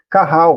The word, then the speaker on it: Qahal: Carral, né? Carral. Carral. Geralmente se escreve, se translitera Qahal, né?